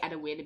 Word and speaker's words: Adewale: But yeah, I'm gonna say Adewale because it was literally spelled like that. Aid, Ade, Whale, Wale. Literally like that. So Adewale. Adewale.